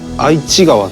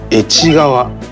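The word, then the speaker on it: 愛知川: This river's name is written as "Aichi-gawa" but it is pronounced as "Echi-gawa".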